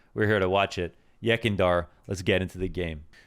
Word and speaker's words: Yekindar: of 2021 saying yakindar so i know it's pronounced yakindar but i might say it incorrectly so i'm